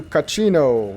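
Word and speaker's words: Cachino: I'm gonna go talk to Caccino. Rhymes with casino.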